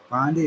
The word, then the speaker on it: Bondi: I think Pam Bondi might Pam Bondi. Is that Yeah, that's how she pronounces it.